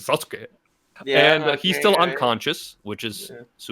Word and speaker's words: Sasuke: I know it's on purpose, but I'm just properly pronouncing Sasuke.